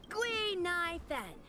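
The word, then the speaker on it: Guinaifen: But a Xianzhou friend came up with an authentic Xianzhou name based on the pronunciation. So that's what Gunaifen means. So it's supposed to be Guinevere? Interesting. Gui Nai Fen.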